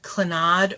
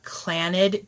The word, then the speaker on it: Clannad: It's a group called Clannad or Clannad, depending on how you pronounce it.